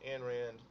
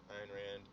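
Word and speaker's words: Ayn Rand: um and like I said it's it's written by a thinker named Ein Rand again I've heard I've heard pronounced and Rand iron Rand uh and she lived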